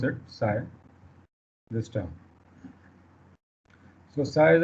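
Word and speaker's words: ψ: this side this is what actually how we pronounce it psi this term so psi is a function of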